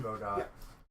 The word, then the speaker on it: Godot: Godot. Hold on. It's actually pronounced Godo. That's how they do say it in the anime.